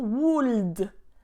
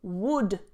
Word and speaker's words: would: subject would would okay don't pronounce the L not wound would would it's pronounced exactly